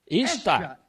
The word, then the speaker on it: Ishtar: E então, ele tinha uma esposa, o deus Lua, deusa, Ishtar, I-S-H-T-A-R, Ishtar, e também se pronuncia A-S-T-A-R-T-E, Astarte.